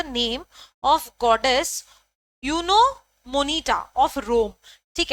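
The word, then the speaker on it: Juno Moneta: अब ये जे जो है दैट इज साइलेंट, यूनो मोनिटा ऐसे आप प्रोनाउंस करते हो, ठीक है, एमसीक्यू में आ सकता है, ध्यान रखना।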